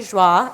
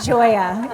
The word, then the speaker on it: Joie: Joie. It's like, what is that? It's not Joya.